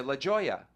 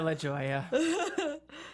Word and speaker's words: La Jolla: place in California, La Jolla. Yes. You know. I love going to La Jolla.